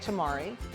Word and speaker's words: tamari: So I say tamari, and you say? Tamarind. Like samurai, you know, samurai.